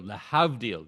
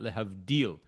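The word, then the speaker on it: להבדיל: And she's asking, why was the syllable on that hav and not the deal? Lehavdil, not lehavdil.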